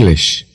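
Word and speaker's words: Englisch: ان ان ان ان انگلش انگلش به ابتدای کلمه دقت کنید تلفظ آن ا میباشد و نه این به آلمانی چطور می‌گویید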